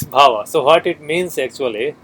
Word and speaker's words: bhava: They call it bhava. Power, okay. Bhava. Power, how do you spell it?